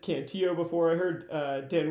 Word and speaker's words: Cantillo: the fact that like if you're pronouncing the name Cantio like in Spanish it would be Kantio, right? Not I mean, but it is Cantillo because it's a name.